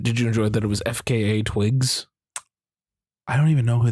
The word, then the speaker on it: FKA twigs: did you did you enjoy that it was FKA twigs I don't even know who that is neither do I I was gonna ask if that's how you say her name yeah it's FK twig okay she was her actual name is Talia